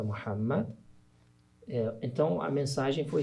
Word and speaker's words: Muhammad: o profeta do islamismo a pronúncia portuguesa é maum né Uhum mas se você falar Maomé para os muçulmanos não vão entender do que você está falando né que é o profeta Muhammad eh então a mensagem